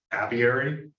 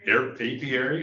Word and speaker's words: apiary: Beekeeping developed into a passion for Lucy when she took over the duties of the family apiary. Am I pronouncing it right? Apiary.